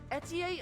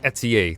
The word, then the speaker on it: Etie: at your disposal okay I did not expect Etsy to be your pronunciation I'm gonna have to keep that in mind because I've been calling her ETI in my mind or it's yeah there's